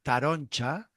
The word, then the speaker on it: taronja: Y eh la palabra taronja, que en verdad en valenciano se pronunciaría taroncha, ah, vale.